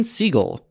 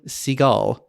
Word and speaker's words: Seagal: They also considered Steven Seagal. I know everyone calls him Seagal, but his actual last name is pronounced Seagal.